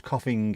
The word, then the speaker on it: coughing: Coffin and coffin, there's a G at the end of the first word, we don't pronounce it. Same with Liverpool. Because if you do pronounce coughing, it makes you sound like you've got something to hide.